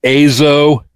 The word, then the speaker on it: EZO: The name of the band should actually be pronounced Azo because they were from the island of Hokkaido whose original name was Azo.